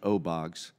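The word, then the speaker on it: OBOGS: O oxygen generating system it's pronounced oogs we found that it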